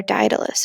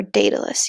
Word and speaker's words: Daedalus: this legend, and the inventor Daedalus, or Daedalus, you might also see it pronounced, or hear it pronounced.